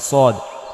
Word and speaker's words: ص: এটা কিন্তু আসলে কিন্তু সিন না, এটা হরফটা হচ্ছে সদ। সিন আর সদ হরফ যদি আলাদা হয় তাহলে উচ্চারণটাও অবশ্যই আলাদা হবে। সিন পাতলা করে পড়তে হবে, সদ মোটা করে পড়তে হবে।